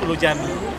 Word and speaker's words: Ulu Cami: Sebagaimana yang saya bilang tadi, bahwasanya pronunciation C di sini menjadi J, Ulu Cami menjadi Ulu Jami.